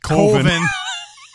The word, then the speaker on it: Coven: The other one is just following along, and they're trying to make a horror movie called Coven, which is pronounced Colvin.